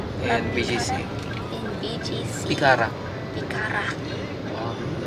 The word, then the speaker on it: Picara: Picara. Okay, you know how to roll your R?